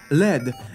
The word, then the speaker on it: lead: Ja żelaza mam, aha, bo to jest żelazo albo led. I teraz dziękuję wam też za komentarz pewnej dziewczyny, która napisała, że lead nie czyta się lead, tylko led.